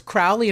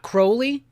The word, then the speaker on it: Crowley: It does bother me that he says Crowley and not Crowley, because it's pronounced Crowley, as in holy.